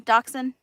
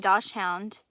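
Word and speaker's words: dachshund: need a little um doxen that's how you say it right I kept saying Doh hound and I was just like that's not how you say it it's a wiener dog it's a Doxon it's just spelled that way um Beth have you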